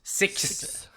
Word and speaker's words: Sicks: six là faut faut je pense faut comme prononcer le S à la fin c'est six ouais ben c'est ça